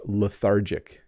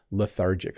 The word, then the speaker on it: lethargic: a couple more times lethargic it has the th in it makes it a little hard to pronounce for um people learning English but lethargic oh I'm feeling lethargic